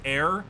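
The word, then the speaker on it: Ayre: wouldn't have done it her name is pronounced air well then how can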